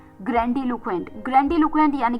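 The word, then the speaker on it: grandiloquent: ग्रैंडलक्वेंट।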